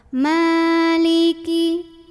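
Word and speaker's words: مالك: dibaca pendek ya Ee ini mimnya panjang dua harakat jadi enggak Maliki walaupun pada riwayah lain mim ada yang dibaca pendek tapi kalau kita riwayat habs pakainya panjang dua harakat Maliki Maliki gitu ya Maliki yau yau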